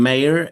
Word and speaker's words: Meir: My name mayor is is a famous mayor.